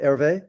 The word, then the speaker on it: Hervé: And is it Hervé you pronounce it, Hervé? Yes, yes.